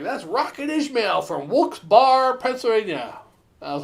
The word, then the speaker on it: Wilkes-Barre: that's rocket ishmael from wulkes bar pennsylvania i was like whoops bar is looks bear but it's b-a-r-r-e but we got to pronounce the wilkes-barre so i could call it wilkes bar all right folks bar